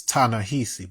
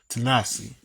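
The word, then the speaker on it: Ta-Nehisi: majority of, uh, Tanahasi, Tanasi Cro quots. I forget how you say pronounce his first name. Tanasi look like it's it's Tanahi, but it's Tanasi coats.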